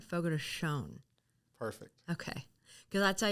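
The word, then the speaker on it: Fogo de Chão: the states they say Fogo Thea but it's actually the correct pronunciation is Fogo to show Fogo toon like the N is dropping off of it all right Fogo toon perfect okay cuz I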